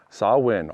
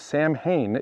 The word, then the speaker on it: Samhain: you are not dead sawin often mispronounced samhain is an irish word meaning first day of winter some may claim religious